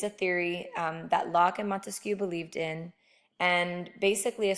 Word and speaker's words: Montesquieu: is Baron de Montesquieu we will refer to him as Montesquieu it rhymes with barbecue that's how you can remember him he believed in the